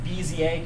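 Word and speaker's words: Bézier: one here just so you know how it's pronounced bza curves that's a popular one using graphics we're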